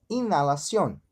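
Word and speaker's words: inhalación: Então, como exemplo, inalación. Inalación, a gente percebe que não pronunciamos o H, não é verdade?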